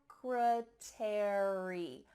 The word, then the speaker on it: secretary: Well, in this case, ARY at the end of words is gonna indicate that in American English, we're gonna pronounce the full word. Library, secretary, military.